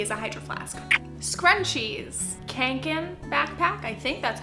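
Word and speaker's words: Kånken: Scrunchies, kanken backpack, I think that's how it's pronounced. Det gäller även kanken.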